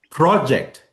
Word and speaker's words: project: Now, project, which syllable is longer? Pro. Project. Pro is longer. Yeah, the first one.